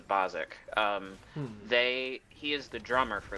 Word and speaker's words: Basics: Spelled the Basics, but pronounced the Bozic.